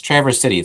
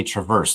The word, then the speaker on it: Traverse City: Yeah, it's Traverse City. Some people will say Traverse, like the car. Traverse. It's not Traverse that. City.